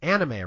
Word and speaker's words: anime: I said anime. It's anime, right? It's either pronunciation is fine. Anime is probably the more proper Japanese pronunciation, but it's also based off of the English word animation, so.